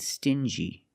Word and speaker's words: stingy: Example, dingy and stingy. These two words have the regular n sound plus the j like juice together. Sting gi together stingy or ding g together.